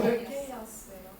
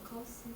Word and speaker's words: chaos: 얘들아, 너희 영어. 케이아스예요. 어? 아무래도 카오스.